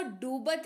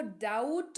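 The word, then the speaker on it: doubt: बी दिख रहा है तो समझ ए गया की बी का उच्चारण नहीं करेंगे बी को भूल जाएंगे बी यहां पे है ही नहीं तो इसको डूबत नहीं इसको डाउट पढ़ेंगे डाउट पढ़ेंगे देखिए डाउट में बी का नामोनिशान नहीं है लेकिन स्पेलिंग में है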